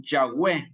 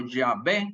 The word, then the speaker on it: Yahweh: Nadie sabe exactamente la verdadera pronunciación de YHVH de por sí, porque la forma de deletrear el hebreo antiguo no usaba vocales. Sin embargo, la pronunciación Yahweh o Yahvé es probablemente la más correcta, porque entran